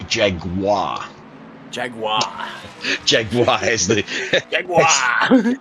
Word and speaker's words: Jaguar: And it's not It's not Jaguar. You got to say it properly. Jaguar.